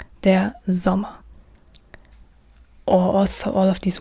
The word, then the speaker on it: Sommer: So now we have the S, and the S is an S in German, but it's not pronounced like, as an example, in English you have summer, and this means Sommer in German, der Sommer, but you don't say der Sommer, but der Sommer, z, not s, but z, der Sommer.